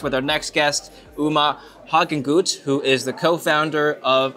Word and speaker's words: Hagenguth: our next guest Uma Hawkins who is the co-founder of a very interesting company I'll let you talk about it sure thanks for the intro and pronouncing my name a German Way Apex is a company